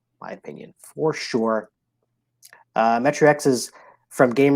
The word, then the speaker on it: Metro X: rolling rights or flipping wrench for sure that's metro x my number three of last three in this household that game we don't own it but it is pronounced metrox metrox metrox that's fair yes all right my